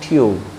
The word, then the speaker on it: tube: जैसे देखिए आप TUBE उच्चारण हो जाता है ट्यूब।